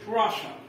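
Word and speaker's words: Russia: دي بس اللي هي كلمه راشا راشا راشا ملاحظ ان الدبل اس منطقين طبعا راشا مش هي راشا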